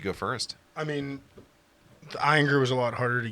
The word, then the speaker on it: Ayinger: It is Ayinger.